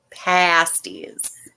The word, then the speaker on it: pasties: love and hey oh not pronounced with the long aches pasties because the restaurant doesn't